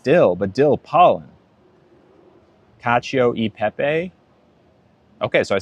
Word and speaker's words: cacio e pepe: Oh, wait, did I say it wrong? Peppa? Peppa or Pepe? Cacio e pepe.